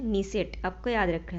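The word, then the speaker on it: Knesset: नीसेट, आपको याद रखना है, ठीक है। के इसमें साइलेंट रहता है, इसलिए क्या पढ़ते हैं इसे? नीसेट।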